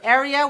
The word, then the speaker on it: area: 2 dots means 3 syllables. Right. Okay, so if we look on the syllable stress of our dictionary here, area is stressed on the first syllable.